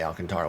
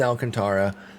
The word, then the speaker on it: Alcantara: the Alcantara, whereas Sandy doesn't have that, so he's Alcantara. But I used to always say Alcantara when I saw that name. I just sounded it out. Then I learned about Alcantara as a pronunciation, so I thought that was the way to go.